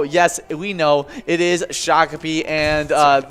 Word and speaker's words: Shakopee: name earlier in the broadcast because it is shakopee and if you didn't know we say shakopee